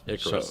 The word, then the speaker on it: Icarus: I always want to know how they pronounce it. Now I know. Icarus, So, yeah.